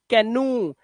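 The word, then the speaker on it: canoe: दुश्मन टो ठीक है एक्सेप्शन में कैनु यहां पर ओ उच्चारण नहीं है यहां पे उ है कैनु और एक और वर्ड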